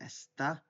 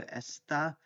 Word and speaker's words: está: So the he, she for estar is está with the accent on the a. So está, and then usar is our infinitive.